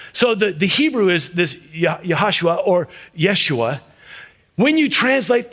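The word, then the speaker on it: יהושע: In the Hebrew, it's actually pronounced Yahashua, or another way to say it is Yeshua.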